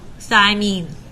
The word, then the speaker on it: thymine: They all end in the sound "een," like mean thigh.